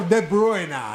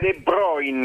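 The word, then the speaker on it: De Bruyne: Tra l'altro De Bruina, eh, ho sentito quelli bravi. De Bruin, De Bruina, De Bruina. De Bruina. Si pronuncia De Broin.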